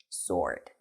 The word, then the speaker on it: sword: or shined and sword remember that there is no W sword Harry Spirits plummeted you